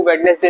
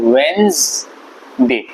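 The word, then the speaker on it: Wednesday: बोलते होंगे वेडनेसडे वेडनेसडे इसको वेडनेसडे नहीं बोलते इसको बोलते हैं वेनसडे वेनसडे यह बोलते हैं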